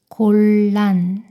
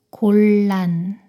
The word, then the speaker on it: 곤란: 니은이 리을 발음으로 변해요. 분리, 분리. 이것도 읽어볼까요? 신라, 신라. 다음 단어입니다. 곤란, 곤란.